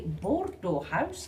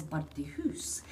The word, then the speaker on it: Bordeaux House: That was previously Bordeaux House after the region and wine. Us locals could not pronounce Bordeaux House. It's now more commonly known as Birdie House.